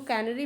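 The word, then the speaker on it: Canary: ये gulf stream कनारी, और इसको कैनरी भी बोलते हैं, इंग्लिश में है। इसको प्रोनाउंसिएट कुछ भी कर सकते हैं, कैनरी, कनारी, कुछ भी।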